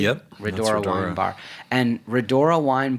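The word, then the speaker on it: Rhodora: Did I pronounce that correctly? Yep, Redora Wine Bar.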